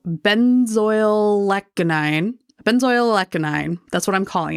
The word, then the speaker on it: benzoylecgonine: Okay, so we've looked up the pronunciation, everyone. It's benzoylecgonine, so I was very close.